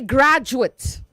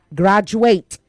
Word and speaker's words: graduate: Say graduate. Gra not D. Okay. Graduate.